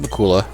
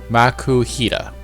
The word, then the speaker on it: Makuhita: Makuhita is how to pronounce his name.